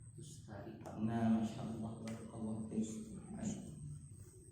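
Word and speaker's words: تستري: Nah, berarti tak pertama apa? Ya, kemudian lanjut. Nah, apa itu maksudnya? Tak yang kedua. Nah, ya itulah tak yang kedua, harokatnya fathah. Ya, lanjut. Garni sin. Muhmalah bainahuma. Nah, ya itu. Ini disebabkan kepada kotak. Yang kotak ini terkenal. Apa bacanya jadinya tadi?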